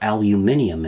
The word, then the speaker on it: aluminium: The first material, and the one I'm using, is aluminum, or aluminium if you prefer. The word can actually be pronounced and spelt two different ways.